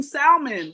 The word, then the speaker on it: salmon: For the longest, I kept saying salmon, but I realized the L was silent.